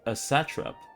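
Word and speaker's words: satrap: As satre satrop I got a How do people say sat in India?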